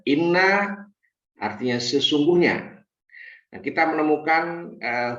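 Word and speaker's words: إنّ: Yang pertama inna, ini ada tasdid, dibacanya inna artinya sesungguhnya.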